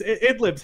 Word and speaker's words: Idlib: I pronounced it for the longest time Ray-ya. Idlib is Idlib's how you say it, right?